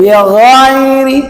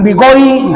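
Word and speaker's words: بِغَيْرِ: Bighairi Bighairi, jangan bigoi. Nah, salah. Ya.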